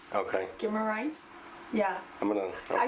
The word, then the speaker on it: Guimaraes: Guimaraes. Okay. Guimaraes.